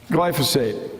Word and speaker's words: glyphosate: That doesn't quite, I didn't say it right. It's a GLY word, and it's important. Glyphosate.